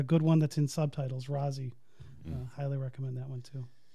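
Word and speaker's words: Raazi: It's R-A-A-Z-I, Razi, I think, is how you say it.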